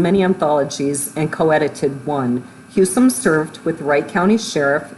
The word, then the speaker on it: Husom: how do you pronounce your last name? Yep, it's Husom. Did I get that right? Husom. Husom. I think maybe the true Norwegian pronunciation would be Husom, but. Okay. But it's more Husom. You got Americanized.